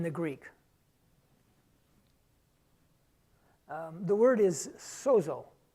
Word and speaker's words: sozo: The word is sozo, S-O-Z-O, sozo. I know I'm not pronouncing it like a Greek scholar would, but like I told you, I'm not a Greek scholar.